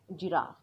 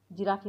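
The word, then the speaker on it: giraffe: काफ म्हणजे गाईचं वासरू जिराफ जिराफी नाही बोलायचं जिराफ कार्पेट किंवा कार्पेट कार्पेट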